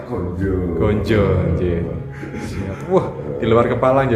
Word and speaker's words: ganja: sampai pasi metuk kemudian tulisannya ganja tapi membacanya gonjo gonj Wah di luar